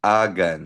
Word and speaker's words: hagan: Silent H, ha? Agan. Hagan. Ano tatanda mo yung nose rule natin? Pag nagtatapos sa N, S, or vowels, pag walang asento, second to the last syllable ang stress.